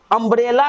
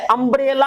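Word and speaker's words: umbrella: अरे उसका उच्चारण य है और इसका उच्चारण अ है, अम्ब्रेला अ से शुरू होता है।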